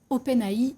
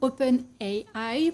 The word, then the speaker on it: OpenAI: qui est développé par OpenAI ou OpenAI, pour ceux qui ont envie de le prononcer à l'anglaise.